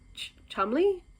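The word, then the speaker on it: Cholmondeley: let loose by Mary I know you don't say it how it was written uh Mary chamley is that how you say it CH it's spelled CH manday but I'm pretty sure it's not said that way anyway this was from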